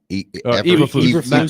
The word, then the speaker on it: Eberflus: Listen, I understand where he's coming from the standpoint of you have how do you pronounce the Chicago Bears coach? Eberflus. Matt Eberflus.